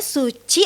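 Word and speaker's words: Sutji: coffeshop kita berdiri Oh kita pakai bahasa Jandaku Noah tapi jadi bacanya Suci atau suji tutup tetap Suci cuma tulisannya es utj Oke nah ini ngomongnya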